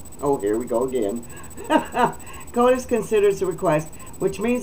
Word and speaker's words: SCOTUS: And that SCOTUS is S-C-O-T-U-S, SCOTUS, or SCOTUS? SCOTUS. SCOTUS. Okay, whatever you would like, you pronounce it your way. Oh my goodness. I'm going to say SCOTUS. But that would have a U after the O to the T, right?